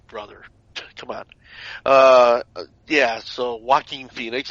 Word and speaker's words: Joaquin Phoenix: Yeah, so Joaquin Phoenix. It's almost like you're saying Walking Phoenix, but yeah, as far